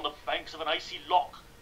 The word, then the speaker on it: loch: Loch. I don't know how you pronounce that. Something like that. Yeah, that's it. Loch. The morning mist. Loch. Can I do that? Production. An icy loch. Yes. Sure. That's a Hebrew Jewish sound that I specialize in.